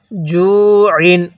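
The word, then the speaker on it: جُوعٍ: জু ইন, আইনটা চাপ দিয়ে পড়ব।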